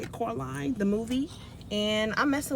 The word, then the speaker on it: Coraline: That's how you say it, Coraline, the movie.